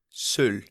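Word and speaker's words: Söll: How do you pronounce it? Soll.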